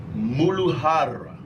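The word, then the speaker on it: मूलाधार: The Sanskrit word is pronounced Muladhara.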